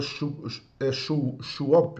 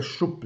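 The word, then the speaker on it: שׁוּב: primeira palavra refrigera-me né que é a palavra Chop ou chup né algumas versões colocam né e eu tenho a pronúncia correta mas é chup né que é trazer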